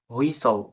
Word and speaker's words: whistle: WHISTLE, হুইসল, হুইসল।